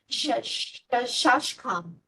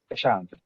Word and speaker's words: Shashank: Shashkam. Shashank, it is.